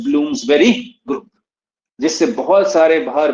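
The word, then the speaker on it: Bloomsbury: इसका pronunciation ब्लूम्सबेरी होता है, बेरी, बरी नहीं होता।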